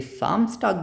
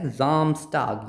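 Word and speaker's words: Samstag: एस के बाद क्या है वोवेल सो ये साम्स टग नहीं है ये क्या है जामस्ट टग यानी सैटरडे सिमिलरली ज़ोन टग संडे ओके अगर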